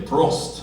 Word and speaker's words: Prost: And if you're German, you say Prost.